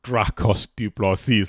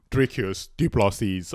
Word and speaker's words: Dricus Du Plessis: I remember calling him Dracos Du Plessis, like Dracula or something like that. Wait, is he a zombie? Do you know what I mean? But Dricus Du Plessis, and the question is,